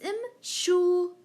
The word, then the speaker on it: امشوا: أنتم تمشون, it becomes امشوا. Again, remove the noon and add an alif, which is silent for أنتم. So امشوا.